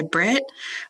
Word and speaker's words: Britt: I go by Britt. 2 T's, always finish the syllable.